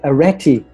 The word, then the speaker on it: Areti: So I heard of this amazing name called Areti. Am I pronouncing it correctly? You are. It's actually, in Greek it's Areti, but Areti is an ancient Greek mythology goddess.